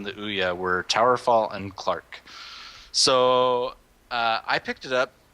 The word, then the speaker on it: CLARC: So Clark, the history on this one. CLARC. Oh yeah, it's totally not the way you expected to spell it.